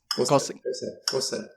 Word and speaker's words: Xhosa: Xhosa? Xhosa.